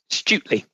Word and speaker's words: Stutely: And from the Parliament of the United Kingdom and Great Britain and Northern Ireland, we also have Matt Stutley, is it? Is that how you pronounce it? Stutley.